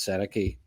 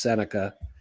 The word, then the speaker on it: Sennecke: the same ballpark as senaki senaka sorry we I know we've been calling them senaki all year but it's senica as as I've come to